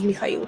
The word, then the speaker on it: Mikhail: Michael is definitely more common to hear in the States, but if you're meeting somebody and they're from Eastern Europe, chances are their name is pronounced as Mikhail.